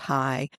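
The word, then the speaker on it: Chai: And that's because it's a Hebrew root word, but it's pronounced high.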